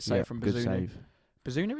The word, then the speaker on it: Bazunu: Bazunu, is it? Yeah, Bazunu. Yeah, pronounced it right.